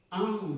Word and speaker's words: un: o el número 1, esa A no se pronuncia como decimos A. Esa A es la A que pronunciamos cuando nosotros, por ejemplo, alguien nos pregunta algo, no entendemos y decimos un asombro, no abrimos tanto la boca para pronunciar esa palabra